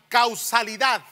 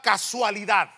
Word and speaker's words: causalidad: Ahora, fíjese la causalidad. Así se pronuncia, causalidad. y no la casualidad.